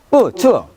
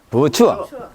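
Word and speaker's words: 不错: 원래대로 하면 어떻게 발음이 돼야 돼? 뿌, 추워. 추워. 뿌, 추워 해야 되죠? 근데 사성 앞에 이것은 이성을 바뀌니까 이성으로 바뀌어. 이성과 삼성은 된 소리가 안 난다 했죠?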